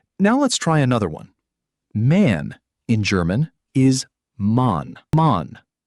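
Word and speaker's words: Mann: Man in German is man.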